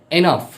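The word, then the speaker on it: enough: এনাফ।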